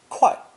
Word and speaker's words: 会: 会 is also a split sound character, pronounced 快.